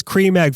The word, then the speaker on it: Creme: the same yeah well cream and creme are the same in English no one in the UK calls it creme pronounce it as Cream Egg from now on it's